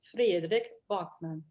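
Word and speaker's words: Fredrik Backman: His name is Fredrik Bachman.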